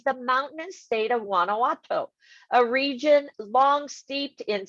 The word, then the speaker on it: Guanajuato: all right so let's go here am i pronouncing a white right guanajuatro is that it juana's guanajuato guanajuato guanajuato thank you just kidding okay yes